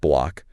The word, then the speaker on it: BLOC: the other side we've got BL and that's pronounced block which is making its debut on the xrpl